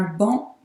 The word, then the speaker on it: banc: Un banc public. Un banc public. So the C in banc is silent, but the C in public is not.